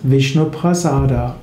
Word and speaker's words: Vishnuprasad: Vishnuprasad ist eine Verkürzung des Sanskrit-Wortes Vishnuprasada. Sanskrit wäre Vishnuprasada, aber in den meisten indischen Sprachen spricht man heute von Vishnuprasad.